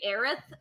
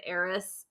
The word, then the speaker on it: Aerith: be- It says here's the Aerith thing. in the trailer. There's going to be Yeah. a joke like midway through the game where someone mispronounces her name as Eris, and Oh, I guarantee they're it.